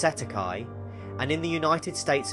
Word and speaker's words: cestui que: commonly referred to as CEST tuqu trust pronounced Setai and in the United